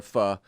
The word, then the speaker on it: pho: I think it's pho. It's spelled Mariah, can you confirm P-H-O.